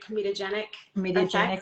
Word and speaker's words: comedogenic: Comedogenic, yep, clogging, yep, doesn't clog.